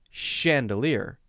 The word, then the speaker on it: chandelier: notice when I say the word chandelier that it has an SH sound. It has the sound we usually associate with SH, even though it's spelled CH.